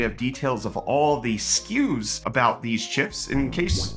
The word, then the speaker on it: SKU: In case you don't know this, SKU is spelled S-K-U because it's an acronym that stands for Stock Keeping Unit. It is not SKU like something that's a SKU.